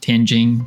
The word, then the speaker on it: Tianjin: It's actually pronounced Tianjin, but I'm trying to say it like a foreigner would, so it doesn't sound as foreign to you.